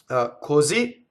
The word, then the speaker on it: così: Così is a word that ends on the final, the ultimate stress.